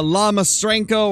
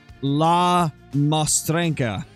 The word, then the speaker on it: La Mostrenca: need to correct my I believe the way you pronounce his name is LA moena because I kept saying